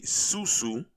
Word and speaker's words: sou-sou: this video so y'all can learn now a susu which is spelled s-u-s-u or s-o-u or sou is uh